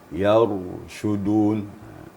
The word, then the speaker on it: يرشدون: Yang pertama bacaan ra sukun tadi sudah disampaikan ya. Jangan ada jedah gitu. Yarshudun.